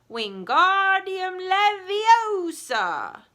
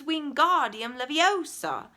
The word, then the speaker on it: Wingardium Leviosa: "Wingardium Leviosa!" he shouted, waving his long arms like a windmill. "You're saying it wrong," Harry heard Hermione snap. "It's Wingardium Leviosa. Make the ga nice and long."